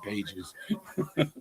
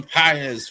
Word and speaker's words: Pages: I'm I'm so tempted to honestly say Andy Pages, but that's not how you say it. Andy PZ for the Dodgers as well.